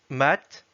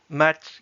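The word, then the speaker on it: мать: Par exemple, dans le mot russe mat, comme ceci, mat qui veut dire mère, on voit bien que la dernière syllabe est mouillée.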